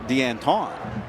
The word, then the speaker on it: Danton: A lot of people are saying Deanton, which he told us, "Yeah, that's actually not wrong. Deanton, Deanton means of Anthony, right? Anony's son."